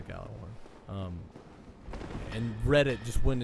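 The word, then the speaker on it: Gjallarhorn: It was supposed to be quote unquote next Galah Horn or Yaller Horn is the way it's actually pronounced, but I'm calling it the Gallah Horn.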